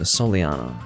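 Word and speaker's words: Soleanna: a long time ago the city of solano was a solyana i need to remember to pronounce it that way which is again the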